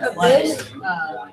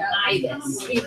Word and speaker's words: ibis: Scarlet Abyss? It's called an ibis. Abyss is a different word, but it's spelled A-B-Y-S. You're shouting into the abyss. That's this. Ibis.